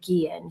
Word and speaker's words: Guillian: I know that I mispronounced Vanessa's last name in the previous video that we did. So, I just want to take a second and apologize for that. Her last name is Guillian.